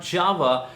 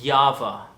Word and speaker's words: Jawa: Republic brand is not Java but it's supposed to be Java yes you heard me right the J is supposed to be pronounced as yah but of course when